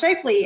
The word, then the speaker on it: Scheifele: I was like, how do you pronounce that? Scheifele? And then I was like, oh, it's Scheifele.